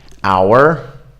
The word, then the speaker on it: hour: So there is a silent H in some words, and you're not supposed to say anything here. You just drop it. So we don't go like honest or honor. We go honest, honor, hour.